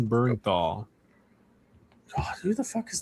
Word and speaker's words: Bernthal: Bernthal. Sound it out. With a U.